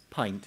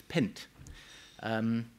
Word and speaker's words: pint: fluent PPA would pronounce the word pint as pent come back to that